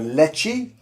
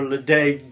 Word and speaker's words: Ledaig: That's the Leche.